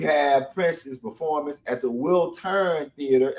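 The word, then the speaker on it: Wiltern: And then we have Prince's performance at the Will Turn Theater. Am I pronouncing that right? Will turn. Yeah. Will turn.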